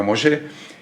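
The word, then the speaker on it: משה: Nosotros vamos a seguir llamándole Moisés en este estudio, pero la pronunciación correcta sería Moshe.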